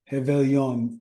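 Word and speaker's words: Réveillon: Rebellion how do you say um heon because don't say the r like hey Ice Aon means New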